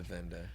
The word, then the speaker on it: Wende: The Venda Museum is spelled, it's Wende, so it's spelled the German way.